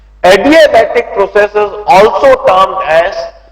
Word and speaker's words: adiabatic: Read it as adiabatic process. इसको आप ए डायबिटिक मत करो, ए डायबिटिक नहीं है. स्पेलिंग देखो, adiabatic. It's adiabatic process.